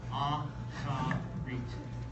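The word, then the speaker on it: אחרית: So A-C-H-A or K-H-A, and then dash R-E-E-T, with the accent on the last syllable. Ah-cha-reet.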